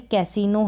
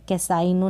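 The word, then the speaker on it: casino: यहाँ पर देखिए कैसीनो है, क्या है? कैसीनो है, कैसाइनो नहीं बोलेंगे, आई नहीं बोलेंगे, ई बोलेंगे।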